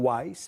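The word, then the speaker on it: Houaiss: Calcula-se que existam mais de 300 mil palavras na língua portuguesa, mas o dicionário Aurélio traz 160 mil verbetes e o WAIS, assim que pronuncia, 228 mil.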